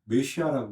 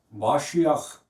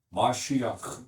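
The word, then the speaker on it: מָשִׁיחַ: 영어로는 메시아라고 그러더라고요. 한국 말로는 그리스도라고 번역해놨어. 다 틀립니다. 메시아라고도 하면 안 되고, 공부한 사람 티내려면 마시아흐 이렇게 발음하세요. 목을 긁는 소리가 있어요. 마시아흐 이렇게.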